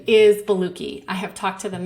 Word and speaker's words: Boluoke: This supplement is called Beluki, and I have heard it pronounced a lot of different ways, like Boluoke, Boluoke. The correct translation or pronunciation is Beluki.